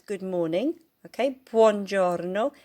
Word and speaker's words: buongiorno: Okay, buongiorno. See if you can roll your R's.